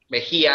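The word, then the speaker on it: Mejía: name is mejia mejia is pronounced in spanish and the name you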